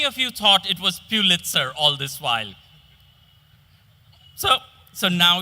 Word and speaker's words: Pulitzer: It's not Pulitzer, it's Pulitzer. Robert's eyes took another survey of the room.